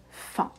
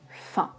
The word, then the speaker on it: fin: repas, je n'ai plus faim. La faim, c'est quand quelque chose est fini, terminé. Alors que la faim, c'est le besoin de manger. Faim, faim, même prononciation, mais attention, le sens et l'orthographe changent.